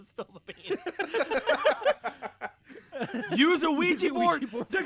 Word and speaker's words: Ouija: There's no time for an extended bit on various mispronunciations of Ouija board. Your friend needs help. Ouija board. Ouija board. Weedy. A Wega board.